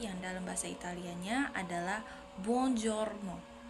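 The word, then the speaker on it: buongiorno: pengucapan Selamat pagi yang dalam bahasa Italianya adalah bonjorno bonjorno jadi yang keempat ada pengucapan dalam bahasa Italia yang memiliki arti Selamat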